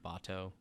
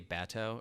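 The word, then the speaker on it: Batou: a weird thing uh did you notice the weird pronunciation of botto uh no all right anyway it bothered me i didn't what so i think she i think she'd say she'd say bato or something and i was so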